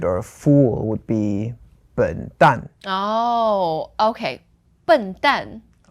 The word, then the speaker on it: 笨蛋: For example, like an idiot or a fool would be 笨蛋. Oh, okay. 笨蛋. So 笨 is fourth tone. And then 蛋 is also fourth tone.